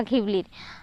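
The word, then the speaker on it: Ghibli: এই জিবলি গিবলি বা ঘিবলির আর ইসাও ওকাহাতা এবং তো সুজুকি গিবলি নামটি রাখা হ রাখা হয় একটি বিশেষার কারণে উচ্চারণের জিবলি বা গিবলি মূলত এটা ঘিবলি এই শব্দটি এসেছে ইতালিয়ান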